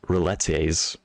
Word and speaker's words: rillettes: It's spelled rillettes, but it's pronounced rillette apparently.